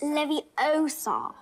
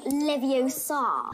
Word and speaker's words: Leviosa: do beat the feather you're saying it wrong it's leviosa not leviosa those girls that actually